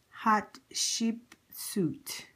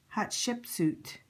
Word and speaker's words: Hatshepsut: it is print pronounced it's pronounced um hot ship suit hot ship suit that's how it's pronounced hot ship suit so I'm just going